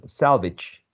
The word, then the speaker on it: salvage: And then you chose salvage. Salvage rhymes with outage, marriage, orphanage.